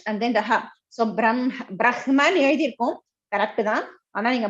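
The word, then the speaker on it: ब्रह्म: You may have Brahma, that is correct technically, but when you pronounce it, you should have the im first and then ha next. Brahma, this is the one Sanskrit rule.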